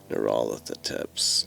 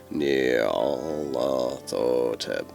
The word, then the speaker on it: Nyarlathotep: I like to pronounce the name as Nyarlathotep, but honestly, go with whatever you feel works.